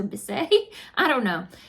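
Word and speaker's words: Bissé: Natura Bisse? I don't know how to say it. Natura Bis. It has the little mark over the E, so Bisse.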